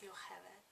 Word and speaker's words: Jochebed: And Jochebed means God is glory, and the Hebrew pronunciation is Yocheved.